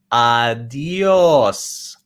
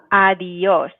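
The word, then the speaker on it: adiós: i'm saying both of those sounds but together adios adios erica how about you adios adios so you can see you can hear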